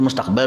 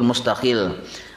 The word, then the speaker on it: mustaqil: Nah, itu mustaqbal bacanya lah. Nah, yang bujur mustaqil. Jadi mustaqil, baknya lebihan. Jadi baknya dihapus, mustaqil naranya.